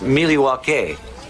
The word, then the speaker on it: Milwaukee: the celebration begin yep let the celebration begin milwaukee you are champions actually it's pronounced miliwake which is algonquin for the good land beat